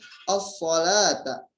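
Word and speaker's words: الصلاة: Lanjut ke as-salata. Ada alif lam syamsiyah. Ketika alif lam tidak dibaca jelas, maka hukum bacanya alif lam syamsiyah.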